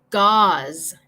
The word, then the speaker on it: gauze: So, envía tus respuestas aquí y voy a decir como las palabras para que ustedes puedan escuchar la pronunciación. So, number 1, gauze.